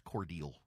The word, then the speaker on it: Cordele: It's Cordele. It's Cordele. Down in South Georgia, they've got Unadilla. They have Vienna, but it's pronounced Vienna.